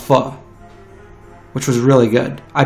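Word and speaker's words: phở: dinner so I had vegan full fall it's pronounced pho which was really good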